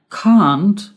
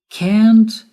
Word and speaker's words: can't: can't what's the difference can't is the pronunciation in American English and cond is the pronunciation in British English can't can't can't can't I